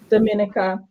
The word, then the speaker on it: Dominica: How do you pronounce that? Saint Dominica. Dominica through turban head wraps, and shares the history in forms of art exhibitions, lecture series, and interactive educational workshops.